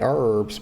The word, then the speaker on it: herbs: And y'all, I don't say herbs because it has an H on it. And I put the H, y'all.